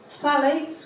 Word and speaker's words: phthalates: Phthalates, which nobody can pronounce, PHTH, phthalates are plasticizers.